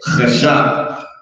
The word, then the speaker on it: chashak: So I'll start saying is chashak. That's how you actually would say it. Chashak.